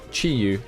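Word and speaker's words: Chi-Yu: I thought why not it's chiu my bad totally mispronounced that butched it in every way Chi U is the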